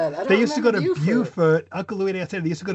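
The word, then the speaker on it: Beaufort: Now I I think one of them is Bowfort and the other one is Bufort. Right. Right. Right. Correct. Is is Bufort in South Carolina?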